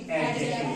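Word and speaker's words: adjective: एडजेक्टिव। क्या होता है? देखिए अच्छी बात मैं आपको ये बताने वाला हूँ, इसमें डी क्या रहता है बेटा? साइलेंट। क्या रहता है इसमें? साइलेंट रहता है।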